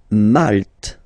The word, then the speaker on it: Malte: Malte. Same thing here, you don't insist on the final E.